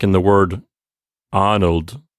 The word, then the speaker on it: Arnold: arnold right yes arnold so the word arnold the a and the r they make up the first syllable so there's two syllables ar makes the first syllable and then nold is the second syllable so the letter r ends the first syllable since it's at the end of a syllable it's going to get that open r sound right lisa yes that's